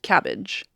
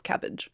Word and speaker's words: CABG: Okay, this next one is pronounced cabbage, but it is CABG. Everyone just says cabbage.